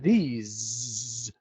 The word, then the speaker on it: these: pronunciation between this and these is quite hard to hear sometimes. These is actually a longer sound. This, these, this, these, like that.